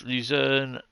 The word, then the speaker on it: Luzern: No, it's Luzern Cersei is where we're going. Forgot to remember how to spell it.